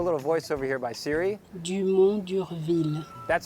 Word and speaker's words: Dumont d'Urville: Dumont d'Urville.